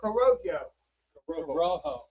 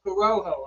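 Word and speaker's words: Corojo: We are smoking the Kamacho Coro Rojo. Corrojo. I'm sorry I mispronounced it.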